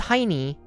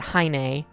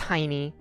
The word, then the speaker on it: Heini: and his name is Heini. I mean, in in the English dub, they kind of they try to save it by pronouncing it Heine, but it it's it's Heini.